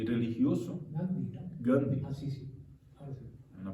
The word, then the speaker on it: Gandhi: Entonces, Gandy fue un gran hombre, así se pronuncia, ¿no?